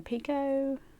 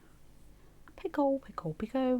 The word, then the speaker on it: picot: another single in the picot. Picot. When I first started, I did think it was picot. That also sounds fancy if you say it like that.